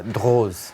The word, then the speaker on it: Droz: Z, yeah, Droz. Droz. I don't have much to say. I mean, regarding the pronunciation, just Droz and not Droz, because it's not an S, the same as Hermès and Hermès. Yeah.